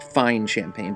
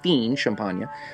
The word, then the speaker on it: Fine Champagne: world's most illustrious brandy blend cognac labeled as fien champagne looks like fine champagne but it's pronounced fiend champagne by law must be comprised of only out